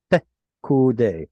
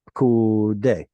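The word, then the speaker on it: פקודי: So pekude. In fact, if you can shove these two together, even better. Pekude, pekude, or vsare. Now, in modern pronunciation, those vowels get lost and shoved together.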